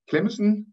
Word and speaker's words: Clemmensen: So the last speaker of this session is Kim Clemmensen. Clemmensen. Nej, Clemmensen. There's just a missing N. It's also a very long name. It's a very long name. The Clemmensen, that would be the Danish pronunciation.